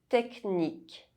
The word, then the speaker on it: technique: However, in some words, CH is pronounced K. Technique, orchestre.